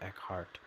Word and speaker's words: Eckhart: become comfortable with nothing happening a meditation with Eckhart that's how you pronounce it yodessa Mason I got this I